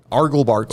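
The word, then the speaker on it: argle-bargle: spell it? ARGLE dash BARGLE. Argle bargle.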